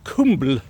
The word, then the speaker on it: kumbl: And that can be spelled, so kumbl can be spelled with the K rune, the U rune, the B rune, and the L rune, or with the K rune, U rune, M rune, and the L rune. And both versions pronounce kumbl.